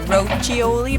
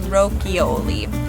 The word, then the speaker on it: Rochioli: winery and vineyard rokioli people will say maybe rochioli but it's actually rokioli hardsy continuing on along westside road another very